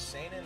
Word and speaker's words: seinen: I guess it's there's seinen. There's seinen is the correct way to say it.